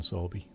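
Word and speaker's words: Sowerby: She was fond of Susan Sorby, and that is how you say that word.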